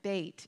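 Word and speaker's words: בית: life and all life began with the letter Beit it is the very first letter of the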